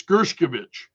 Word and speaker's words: Gershkovich: Street Journal reporter, even Gershkovich, and forgive me for mispronouncing his name, it's Gershkovich, and also former Marine Paul Whelan were released.